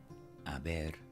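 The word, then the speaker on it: haber: after me a bear notice I drilled the are a little bit and I didn't pronounce the age you can drop your ages in Spanish so repeat after me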